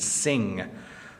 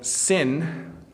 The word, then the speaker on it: sin: Gung Lao says, how to distinguish N and NG, like sin and sing. So sin just stops with the N sound, sin.